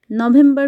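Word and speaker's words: novembro: হয়ে থাকে অতুব্রু অতুব্রু নভেম্বর কে বলা হয়ে থাকে পর্তুগিজ ভাষায় নভেম্ব্রু নভেম্ব্রু ডিসেম্বর কে পর্তুগিজ ভাষায়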